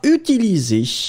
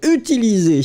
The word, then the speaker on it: utiliser: Be careful, Lynn, because utiliser is not with Z, but with S.